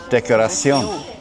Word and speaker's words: decoración: The C-I-O-N at the end is T-I-O-N converts to C-I-O-n, right? And then it's Sion. So decoration is decoración.